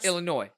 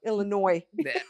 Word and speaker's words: Illinois: Illinois. Illinois. The S is silent.